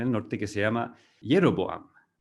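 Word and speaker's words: Jeroboam: norte que se llama jeroboám rejovot y jeroboám en castellano a veces pronunciar la jota jeroboám pero todo esto recordemos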